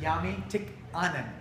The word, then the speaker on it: Jami Tikkamen: Jami Tikkamen.